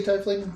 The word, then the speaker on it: tiefling: I say tiefling. The correct pronunciation is tiefling.